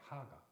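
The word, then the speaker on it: הגה: 요게 뭐라고 읽냐면 하가라고 읽어요. 하가.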